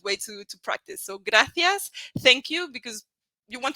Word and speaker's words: gracias: graas so thank you this one is a little bit trickier in the pronunciation so it's graas and here in Spain it's going to be with a th sound graas now to practice pronunciation